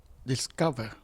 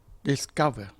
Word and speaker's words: discover: discover discover ไม่ใช่ discover c หลัง s เป็น hard c เกะไม่ใช่ soft c เกะจึงออกเสียงว่า discover discover We searched all morning for